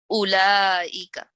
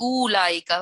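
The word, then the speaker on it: أولئك: Please don't put sakin, otherwise it'll be ulaika. Okay, this waw is written but it is not pronounced.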